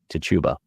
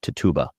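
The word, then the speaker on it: Tituba: slave a woman named tuuba or TBA or Tiba I've heard it pronounced all three ways and there seems to be no Rhyme or Reason whatsoever I will call her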